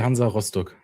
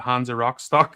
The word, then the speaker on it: Hansa Rostock: So it's FC Hansa Rostock in the Right. German So pronunciation. yes, so we over here we were calling it Hansa Rostock, so that's why I was like, I'll let